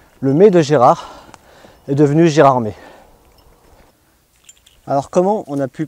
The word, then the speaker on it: Gérardmer: très très loin de gérardmer d'ailleurs j'ouvre une parenthèse on prononce bien gérardmer et non pas gérardmer mais pour en comprendre